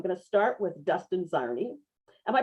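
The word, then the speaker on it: Czarny: So I'm going to start with Dustin Zarni. Am I pronouncing your last name correctly, Dustin?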